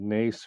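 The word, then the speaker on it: Naas: Dublin on the way to Cork, place called Nace, which is always mispronounced, but that's fine.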